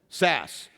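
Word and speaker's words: Szasz: Sass.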